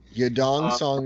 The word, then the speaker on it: Yadong Song: Yadong Song is technically how they pronounce it in Asia.